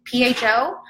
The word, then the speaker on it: pho: tried spa I never even knew how you pronounced it pho you might love it and then you find